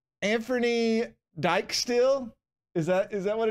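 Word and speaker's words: Dijksteel: e l oh here he is somebody's already pronounced his name for us and Fernie dextiel dextil and Fernie dextile and Fernie dextiel okay I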